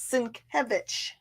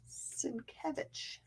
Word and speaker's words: Sienkiewicz: This crazy name that's right there, which looks like Sienkiewicz, is Sienkiewicz. Sienkiewicz.